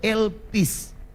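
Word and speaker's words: ἐλπίς: daripada Pengharapan yang disini adalah elpis Elvis ya Elvis itu kalau dibaca lpc lpck lu bacanya baca secara bahasa Yunani tapi kita baca secara hurufiah saja Elvis Elvis ini nama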